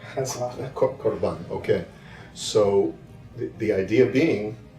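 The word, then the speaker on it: قربان: "...Qurban, as well". Qurban, okay.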